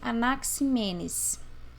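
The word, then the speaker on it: Anaxímenes: Pronuncia-se Anaximandro e pronuncia-se Anaximenes.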